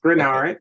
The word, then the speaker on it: Greenard: wrote this amazing book The Mamer of Jonathan grenard am I saying it saying it right that's correct granard okay cool NFL defensive end he was with